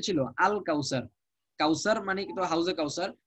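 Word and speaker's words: الكوثر: ইন্না আতাইনা কাল কাউসার, কাফ এসে সরাসরি লামকে ধরছে, মাঝখানে আলিফের উচ্চারণটা বিলুপ্ত হয়ে যাচ্ছে।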